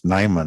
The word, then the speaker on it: Nyman: Sorry, I butchered your name, but it's Nyman, right? Yeah. Okay. All right. It's all good. It's what it looks like.